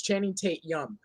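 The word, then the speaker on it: Channing Tatum: point first of all say it right it's channing tate yum second of all magic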